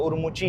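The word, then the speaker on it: Urumqi: ठीक है, और हाँ उरुमुकी में बोलता था ना, उसको उरुमुकी नहीं बोलते भाई। उन्होंने बोला कि उरुमुकी बोल देते हैं लोग, बट उसको उरुमुची है उसकी प्रॉपर जो प्रोनाउंसिएशन है।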